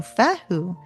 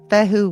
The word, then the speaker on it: Fehu: So Fehu arrives in your reading, ask